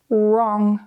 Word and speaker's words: wrong: When W and R are written at the start of a word, the W is silent. For example, right, wrist, wrong.